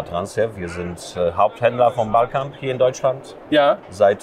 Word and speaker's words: BalCamp: Ist das richtig ausgesprochen? Ballcamp.